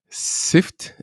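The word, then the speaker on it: Syft: like directly related which is the tool called sift s-y-f-t uh it's pretty hard to pronounce it properly and this this is pretty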